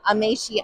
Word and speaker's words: Amaechi: That's John Amaechi. I believe I'm pronouncing that correct.